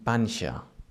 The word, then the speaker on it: panxa: We also see this sound when we have the X after a consonant, as in panxa. For example, panxa is spelled P-A-N-X-A, and it means belly, the part of the body.